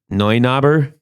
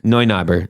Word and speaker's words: Neunaber: I believe it's a Neunauber. You could be right. I don't know. I've always wondered exactly what it was. Yeah, how's it spelled? It's spelled like N-E-U? N-E-U. Yeah, it's Neu. Neunaber.